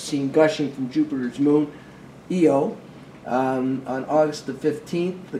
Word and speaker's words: Io: of patera region of io by the way it is io but it is pronounced eo okay heated by gravitational